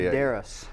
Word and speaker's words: Medeiros: Medeiros.